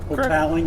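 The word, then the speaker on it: Hotaling: is that was the that's pronounced toweling hotel there we go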